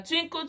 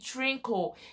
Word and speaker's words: twinkle: an English song now, Twinkle Twinkle Little Star. Others are learning and he doesn't even know how to pronounce twinkle, and he's calling it trinkle, and I don't even